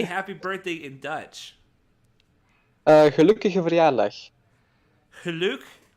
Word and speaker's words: gelukkige verjaardag: gelukkige verjaardag.